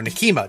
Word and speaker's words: Nekima: This time it's Nekima or Nekima, depending on how you pronounce it, and the Fae crew.